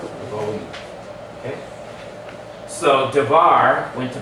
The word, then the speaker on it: Devarim: the book of Deuteronomy, Devarim. Devarim. Devarim. That's how the Israelis say Devarim. Their R is going to sound like a soft and like almost like a W sound. Devarim.